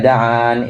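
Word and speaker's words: دعانِ: Ujibu da'watad da'i idza da'an, ini bacaan umum yang ada di mushaf-mushaf kita. Nah, sedangkan Imam Abu Amr dan Imam Qalun bacanya ujibu da'watad da'i idza da'ani, dibaca seperti itu.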